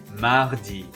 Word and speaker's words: mardi: here's the good news the days have no silent letters in french and they are always lowercase so they're easy to say and they're easy to spell listen closely landi mardi mercedes fun fact